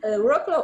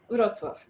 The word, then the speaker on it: Wrocław: Yes, and you pronounced well my name, and Wrocław or Wrocław, as you wish. Yes, we can spell it in two ways.